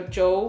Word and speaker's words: Zhou: So Jo means week, and it also is a last name. And my auntie Jo took me to, so it's spelled Zhou.